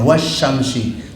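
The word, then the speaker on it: والشمس: Itu enggak jelas dibacanya wasyamsi langsung ke sin, tapi ini wal qamari bulan.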